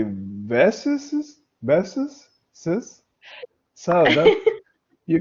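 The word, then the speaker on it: Bess's: you have to say Besses, Besses, sis. So that you can change my name. That's not good. Yeah, no, actually, they're pronounced the same. So Besses and Besses.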